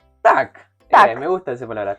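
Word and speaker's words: так: Si querés decir sí, decís tak. Tac.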